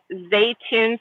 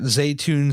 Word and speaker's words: Zaytoun: my head yeah it's I always tell people it's it's like cartoon but spelled differently well head over there guys to at zun style and hit her